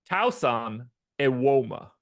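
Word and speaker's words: Tosan Evbuomwan: Tauson Ewoma.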